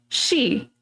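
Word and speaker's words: し: The number 4, shi, is pronounced the exact same word for death.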